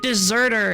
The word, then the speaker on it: deserter: So if you say like deserter, it's spelled with only one S, even though it's pronounced like dessert with two S's.